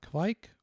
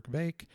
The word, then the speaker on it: kveik: We also talk a little bit about kveik, or veik, or kveik, however you want to pronounce it, a collection of yeast cultures used in Norwegian farmhouse brewing, which have some remarkable properties.